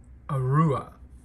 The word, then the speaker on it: Arua: lavalier microphones by this company I believe you pronounce it Rua and if you open up the box you're